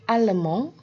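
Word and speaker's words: allemand: laleman negara Jerman ile alemong Ele alemond Jadi kalau di sini ada perbedaan tulisan dan juga perbedaan pengucapan untuk yang maskulang ile alemong jadi d-nya tidak diucapkan untuk yang feminang El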